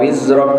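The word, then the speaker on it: وِزْرَكَ: Padahal harusnya cukup mat tabi'i biasa. Wa wada'na 'anka wizrak.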